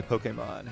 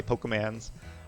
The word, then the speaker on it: Pokémon: Choose a Pokemon. And I believe it's correctly pronounced Pokemon, actually, even though everybody says Pokemon, or people who know nothing about it say Pokemans. But I'm going to try